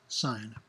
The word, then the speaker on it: sin: Another word for chord is sine, which is often abbreviated as S-I-N, pronounced sine.